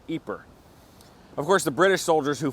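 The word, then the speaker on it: Ieper: to find it spelled i e p r pronounced eer of course the British who fought here didn't use either name they called it wipers eer is best remembered today as the town around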